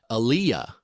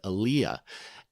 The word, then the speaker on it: aliyah: a word for it the word is and excuse my pronunciation again alyah a l i y a it's a Hebrew word Aaliyah and in Hebrew history